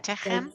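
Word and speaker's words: תֵּצְאוּ: Say, the aleph is silent. The tav is going to have that shava, and it's a syllable by itself. So we're going to hear it. And then the chem at the end.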